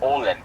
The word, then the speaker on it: Åland: It sounds like you're saying Poland, but I don't think you are. So it's spelled A-L-A-N-D, but with the native accent, it's Åland.